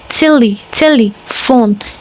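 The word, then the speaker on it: телефон: But unlike the English, it's pronounced telephone, telephone. And in English, telephone, it sounds exactly the same if I'm not wrong. So yeah, that's another word that sounds exactly like English, telephone.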